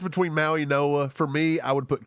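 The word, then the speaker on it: Mauigoa: when you've got the UIG, that's pronounced as an N, so it's Maui Noah. The G silent, and it becomes an N.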